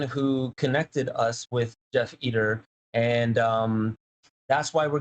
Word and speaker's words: Eder: should make one correction the name's actually pronounced eater eater okay i should have